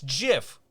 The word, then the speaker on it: GIF: invented the file format says it's jiff with a soft G so he's probably right